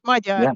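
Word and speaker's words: Magyar: I think your native language was um Magar. Is that right? Yeah. Majar.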